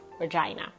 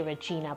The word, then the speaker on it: Regina: So University of Regina, some people say Regina, but I googled it and Google pronunciation said Regina, so I'm gonna go with that.